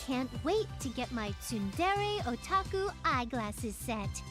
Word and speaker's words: Tsundere: Is it Tsundere? Is that how you say it? I've always been saying to Sundre. There's no... Oh yeah, there is an E in there. That would make sense. Tsundere.